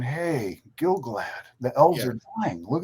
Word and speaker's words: Gil-galad: It's Gil-galad and Celebrimbor be really stupid and really without honor and contrived.